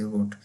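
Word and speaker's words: rot: यहाँ पर अब रेड होता है इंग्लिश में तो इसको रोड कह देते हैं, रोट, थोड़ा सा भारी आवाज़ निकाल देते हैं आर की बस।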